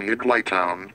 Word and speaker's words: Higglytown: If you want to pronounce it correctly, Sam, pronounce it, like, you need, someone needs to space it, like, they need a space in between Higgly and Town. Then he will pronounce it Higgly Town.